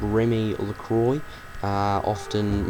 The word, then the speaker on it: LaCroix: She's called Remy Lacroy. uh often mispronounced and often misspelled.